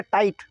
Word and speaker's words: tight: Next है टाइट, एकदम टाइट मामला है ना, टाइट, कसा हुआ, TIGHT टाइट, टाइट में GH साइलेंट।